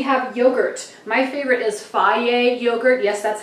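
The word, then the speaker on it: Fage: My favorite is Faye yogurt.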